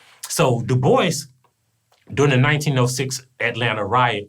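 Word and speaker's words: Du Bois: Like, I always call him "Da-Boy" because, you know, it sounds like that. It looks like that's how it should be pronounced, but it's actually Dubois. So Dubois, during the 1906 Atlanta riot, when, like, white people went H.A.M.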